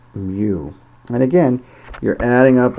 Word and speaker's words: mu: given here it's denoted mu it looks like a u it rhymes with u but it is actually the greek letter mu and again you're adding